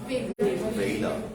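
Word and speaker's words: valour: synonym বলতো ভি দিয়ে ভেইলার ভেইলার বলো কি ভেইলার ভেলার বলবা না কি ভেইলার বলতো একিউরেটের অপোজিট কি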